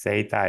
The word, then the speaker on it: Xata: So if you pronounce data, then it's Zeta.